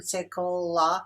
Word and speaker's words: sekolah: Here in our example, Malaysian sekolah, another vowel is added, which produces another syllable.